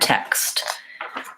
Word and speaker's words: text: of the word text it's spelled with four letters te XT but it has more than more than four sounds so my sounds and text are the sound the vowel F the K sound the S sound and the T sound so in this word the letter X says canis and so if I